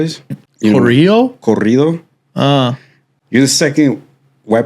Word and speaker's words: corrido: So this song is like, I don't know if you know what a corrido is. Corrido?